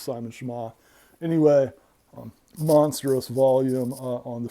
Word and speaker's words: Schama: I think that's how it's pronounced, Simon Schama.